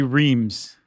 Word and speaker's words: Reims: The two main city are Reims and Epernay. But uh we even have a thing in here that says if you say Reims then you're an American city slicker.